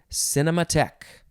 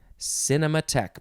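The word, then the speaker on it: cinémathèque: synonym moviegoer next is cinema tech cinema tech but the end of the word is spelled t-h-e-q-u-e cinema tech noun from 1966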